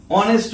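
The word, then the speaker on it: honest: তাহলে কি বলেছি এখানে, দেখো যখন এইচ এর উচ্চারণ অ হয় তাহলে এক্ষেত্রে দেখালাম এইচ এর উচ্চারণ সাইলেন্ট, এইচ এর কোনো প্রনাউন্সিয়েশন নেই, আওয়ার উচ্চারণ হলো ও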